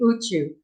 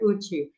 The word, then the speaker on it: Outjo: I don't know how to say it either, but it's usually Uchu, as most people say here, Uchu.